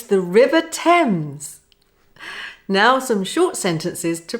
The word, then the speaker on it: Thames: It's the River Thames. Now some short sentences to practice the E sound. Repeat after me. Any eggs left, said Ken? No, not many. They're floating down the River Thames.